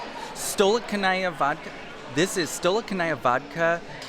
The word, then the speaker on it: Stolichnaya: Stolen Chanaya? Stolichnaya vodka. This is Stolichnaya vodka. Oh goodness, I can't pronounce any of this.